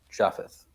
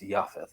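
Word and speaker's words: Japheth: The sons of Noah who went forth from the ark were Shem, Ham, and Jaffith, which is actually pronounced Yafith because there's no J in Hebrew.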